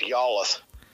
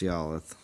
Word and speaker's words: Yalluth: It's pronounced Yalluth. That's right, it's Yalluth.